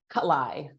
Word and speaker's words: Kalai: how do you say your last name kalai yeah don't worry about it everyone gets it